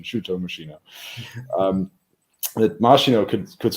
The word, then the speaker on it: Machino: mashino look at me I'm using a preferred pronunciation Cho machino um that masino could could sort of serve